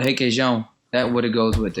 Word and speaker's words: Requeijão: What's the cream cheese called? Requeijão. Spell it. Requeijão. Yeah.